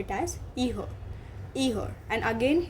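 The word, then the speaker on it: ihr: we call it as eher either and again here r is not pronounced okay it does not have a very prominent sound.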